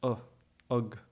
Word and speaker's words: ag: It can be pronounced as egg when you're using it as a normal preposition, right? So if you're using it with another noun, you're saying eg shoppe at the shop. Then you get it as egg. But when you're using it in this ing context, I am working, I am doing, I am saying, it's pronounced with a schwa, so you get tá mé gobid.